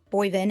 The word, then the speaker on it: Boivin: ocular ultrasound today I have with me Zack booven am I pronouncing your last name correctly yes you are